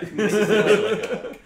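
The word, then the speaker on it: Mxyzptlk: That's like the only way that I learned how to actually pronounce the name. How do you have Mixapitalik? Yeah. Mixapitalik.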